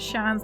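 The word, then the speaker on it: sean: don't have a chance the pronunciation of shams is the same as shan's like the chance but with a sh episode yes um shan's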